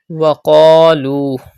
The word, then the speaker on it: وَقَالُوا: Look at the word وَقَالُوا. Pronounce qaf with thicker voice because it is a mustaliya letter. Stretch alif madda and also waw madda.